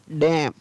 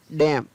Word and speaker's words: damn: डैम, N है वो silent रहेगा, क्या पढ़ेंगे इसको? डैम।